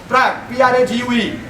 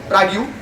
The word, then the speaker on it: Prague: અને ખબર પડે નહીં, મેપમાં જોઈને ગયેલા, ટિકિટ કઢાવવા માટે ગયા, ટિકિટ ફીસ પ્લીઝ ફોર પ્રાગ્યુ. પેલા ભાઈ અકળાયા. પછી એને કીધું કે આ this is Prague, not Prague. Pronounce properly.